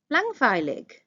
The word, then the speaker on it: langweilig: Langweilig, boring.